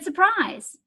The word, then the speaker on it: surprise: am surprised to see there's an R in surprise because I don't say surprise I say surprise